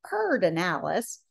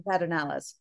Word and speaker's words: Pedernales: lyndon baines johnson decided to call it the purred analysis and so most people now pronounce it that part of the analysis as opposed to the paternalis uh anyway pedernales means flintstone in spanish uh